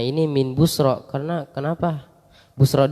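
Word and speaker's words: بصرى: Busra di sini ada alif maksurahnya juga. Ya-nya yang enggak kebaca gitu. Alif maksurah begitu bentuk ya tapi enggak kebaca. Bacanya fathah. Kadang ya begitu alif maksurah dibaca fathah. Maksudnya enggak dibaca gitu ya-nya.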